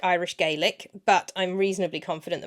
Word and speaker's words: Gaelic: is spelt like Irish Gaelic, but I'm reasonably confident that my pronunciation is more or less on with that one. It's pronounced Gaelic as opposed to the Irish, which is pronounced Gaelic.